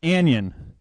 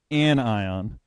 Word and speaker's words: anion: spectacular the word below is not an Yin it is an ion so and I'm not